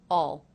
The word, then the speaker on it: I'll: And did you notice the contraction I'll? Again pronounced with the aw as in law vowel, reduced to all, all, all, all.